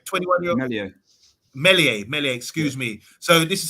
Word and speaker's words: Meslier: How do you pronounce the name? Meslier. 21-year-old. Meslier, excuse me.